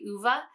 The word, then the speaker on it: Ove: now i realized that i've been pronouncing the name wrong i've been saying oh for a long time uh but it's actually uva uh this book i haven't talked about it